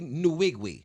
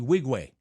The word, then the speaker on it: Nwigwe: Wigwe? 100%. Toby Nwigwe. No, it's Toby Wigwe.